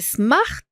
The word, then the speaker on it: Smart: spécial ce mot et Smart tous les mots se prononcent c'est un mot anglais d'accord monsieur Smart on